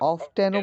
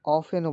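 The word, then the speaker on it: often: এখানে হ্যাঁ, how অফটেনও বলতে পারেন, উচ্চারণ হবে না? অফেনও বলতে পারেন, কোনো সমস্যা নেই। কিন্তু বাংলাদেশে অফেনটা বলা হয়। হ্যাঁ, টিটা সাইলেন্ট থাকে।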